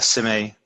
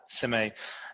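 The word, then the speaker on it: Šime: I can't I I never remember how to pronounce his name, but it's Sime. Uh the guy that's spelled like V R K S A G I O or something like that. Sime.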